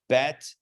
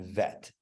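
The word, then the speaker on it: בית: you think of remember we had bet and vet bet it's just it's a striker sound that is a softer sound cuff and cuff cuff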